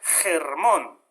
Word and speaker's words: Hermón: Hermón, el monte Hermón, que está en la Biblia, se pronuncia Hermón, ¿no?